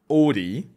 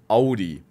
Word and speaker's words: Audi: some countries pronounce it ODI but the correct pronunciation is Audi in German the combination of the two letters a and u should be pronounced like owl d Audi in the